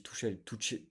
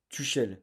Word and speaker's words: Tuchel: Enfin, je dis Touchel, Tom prononce Tuchel, l'entraîneur.